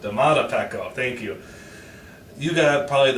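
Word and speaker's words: Domata Peko: How do you pronounce it, Jonathan? Damato Pecco? Is that correct? Damata Pecco.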